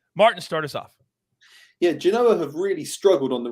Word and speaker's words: Genoa: Genoa. There you go. Genoa. It's a little A at the end. Just, yeah. All right, this is 9 a.m. Eastern on Saturday. Martin, start us off. Yeah, Genoa have really struggled on the road this season.